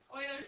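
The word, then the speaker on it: Euler: Like you have to learn how to pronounce Oiler appropriately or I think that would make sense.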